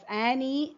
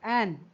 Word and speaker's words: Anne: So it, here the name of this girl should not be pronounced as Annie, rather it's Anne.